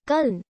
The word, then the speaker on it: Colin: Despite his parents' pronunciation of his name as Cullen Powell pronounced his name, Cole, from childhood on after the World War II flyer Colin P. Kelly Jr.